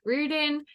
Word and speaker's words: Riordan: Olympians, the Chalice of the Gods by Rick Riordan. That is how they say it is pronounced on the newest Olympian podcast.